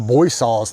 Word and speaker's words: Boisseau: And, okay, and the Boisseaus lived here. They're French Huguenots. I was wondering about that name. It's pronounced Boisseau.